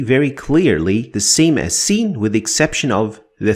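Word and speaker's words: س: From the sound of it, you can already guess that it is the s sound like in the word sir. Sir sir, it is very similar to it.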